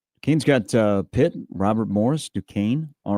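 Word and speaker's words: Duquesne: You should have him spell it. D U S Q U N E. Dukane.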